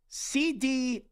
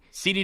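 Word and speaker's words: Ceedy: That's how you would think to pronounce it. If it's C-E-E-D-Y, C-D, and then the last name is.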